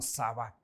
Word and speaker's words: Sabaoth: nombre de Dios como Yahweh Sabaoth, ¿verdad? O muchas veces lo podemos también pronunciar como Sabat.